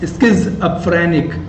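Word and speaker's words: schizophrenic: स्किज़ो इसकी प्रोनाउंसिएशन है SKIZ, स्किज़ोफ्रेनिक, स्किज़ोफ्रेनिक।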